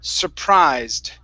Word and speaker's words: surprised: that last word okay the last word is pronounced surprised surprised try that okay now focus on the your r sounds okay right now you're